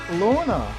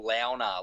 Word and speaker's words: Launer: A lot of people tend to say that, there's two ways you can say it. There's Launer or Launer. A lot of people say it's Launer, but I think it's pronounced Launer.